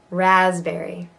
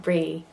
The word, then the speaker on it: raspberry: Raspberry. Raspberry. And there's a definite berry. It's not brie.